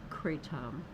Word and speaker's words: kratom: Marketed as natural and often sold in forms such as powders, capsules, and gummies, kratom, or it may be pronounced kratom, is gaining popularity in the US among teens.